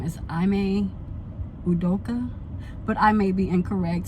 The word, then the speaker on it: Ime Udoka: Long and her fiance, and I want to pronounce his name as Ime Udoka, but I may be incorrect, so please forgive me if that's completely wrong and completely butchered.